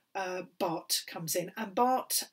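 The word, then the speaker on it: Barthes: bart comes in and bart um pronounced bart but written uh baths b-a-r-t-h-e-s but he was a frenchman so we pronounce it bot and then the last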